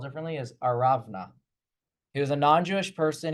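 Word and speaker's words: ארונה: word for that, I know the English doesn't, it's spelled differently, is Aravna.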